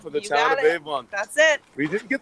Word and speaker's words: Avon: For the town of Avon.